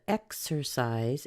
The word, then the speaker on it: exercise: point out first that exercise is a three syllable word we're going to put the majority of the stress on the X we have a weak syllable on the a and then a medium stress on the size that means that we'll be seeing the vowel sounds in the first and the third syllable but in a second syllable we're going to swap that out for a little schwa so this is what